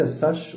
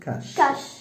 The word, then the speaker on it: cache: ليس ساش ولكن كاش.